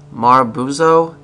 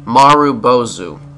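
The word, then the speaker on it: marubozu: butcher this too much it's called a maru bozu and it happens when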